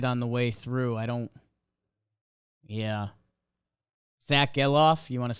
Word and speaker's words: Gelof: Zack Gelof, you want to say his name? Gelof, like sell off.